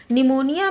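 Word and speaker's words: pneumonia: निमोनिया में ये P starting में लिखा जाता है लेकिन ये साइलेंट रहता है, हम उच्चारण करते हैं, प्रोनाउंसिएशन करते हैं एन से, निमोनिया। पी लेकिन लिखा जरूर जाएगा लेकिन साइलेंट रहेगा।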